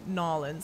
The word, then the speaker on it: New Orleans: Oh, okay, so only people from New Orleans would say Narlins like that.